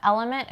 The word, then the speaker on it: LMNT: Yeah, Element is spelled LMNT, so it's Element without the vowels in it.